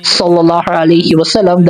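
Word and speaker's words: صلى الله عليه وسلم: salawat o pagbigkas ng sallallahu alaihi wasallam dahil masyado ko pala napapalambot yung sod. Ang nangyayari, nagiging sin at hindi sod.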